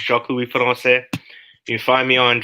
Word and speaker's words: Jacques-Louis Francais: So, Jacques-Louis Francais, for the people who don't know how to pronounce it, it's Jacques-Louis Francais.